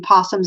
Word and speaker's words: opossum: about the difference between possums and opossums. And so, and maybe it's still pronounced possum with an O.